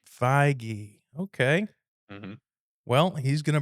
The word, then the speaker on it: Feige: Kevin Feige. Feige.